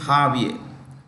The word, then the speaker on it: Javier: Argentina uh or argentum um arent president is jaier m spelled j a v i e r Javier is the spelling but pronunciation is jaier j a v i e r Javier m